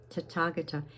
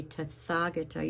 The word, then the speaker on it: Tathagata: Tathagata. And it's spelled T-A-T-H, but you don't say Tathagata, you say Tathagata.